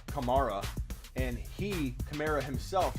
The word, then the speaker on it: Kamara: thing with alvin kamara so many people say smitty it's not kamera it's kamara actually no it's not it's both because his mother his mommy his mommy says kamara and he camara himself